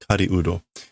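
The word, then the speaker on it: 狩人: Not the normal pronunciation for these kanjis, so to speak, but it's hunter, hunting person, Kariudo.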